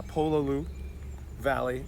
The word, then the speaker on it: Pololu Valley: super Holly here right now we went to pull a Lu Valley I think I said it right that time yeah Pololu Valley and got super summer as you can see